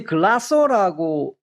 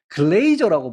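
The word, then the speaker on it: Glaser: 이게 이제 글라서라고 이제 시험에 또 이렇게 나온 적도 있는데 엄밀하게 요거를 번역을 하면 글레이저라고 번역을 해야 돼요. 글레이스 발음 아니고 저글레이저 이렇게 발음하는게 맞습니다.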